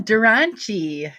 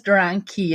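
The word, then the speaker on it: Dranchi: Dran- Dran key or Dran chi or Yeah, Dran chi. Yes, it's Italian. So, I think it was Dran key at one time, but it's Dran chi.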